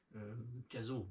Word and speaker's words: Cazaux: Il y en a qui disent Bordeaux, hein, mais ça s'écrit Bordeaux-Aux, donc c'est à côté de Cazaux. Hein. Cazo, pour ceux qui n'avaient pas compris, hein, parce